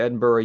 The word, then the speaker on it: Edinburgh: That's how you pronounce that, Edinburgh, Scotland, in 1711.